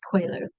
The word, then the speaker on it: Coelho: And my colleague Miguel works in the office next door to me, and I asked him how to pronounce this, and he said it was Coelho.